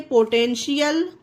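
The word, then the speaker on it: potential: उसी तरह से पोटेंशियल, TIAL है लास्ट में तो शा निकला, पोटेंशियल हो गया।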